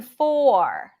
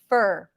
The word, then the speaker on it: four: r as in far or as in four round your lips for this one or this is the closest sound to a neutral o sound that does appear in a lot of languages or four four again